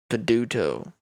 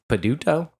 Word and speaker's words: Peduto: those weird cities that doesn't have a map peduto peduto b-i-l-o p-e-d-u-t-o that's the last name is spelled easier than i thought it was gonna